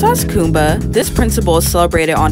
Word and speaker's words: Kuumba: pronounced as kumba this principle is celebrated on december 31st and